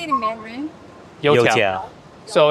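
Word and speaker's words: 油条: And if we see a Youtiao place, we can get a Youtiao.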